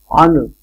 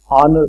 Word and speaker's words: honor: use and honest right honor honor is again H and H is silent in this case so again we have